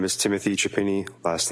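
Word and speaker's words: Chiapini: My name is Timothy Chapini. Last name is spelled C H I A P as in Peter.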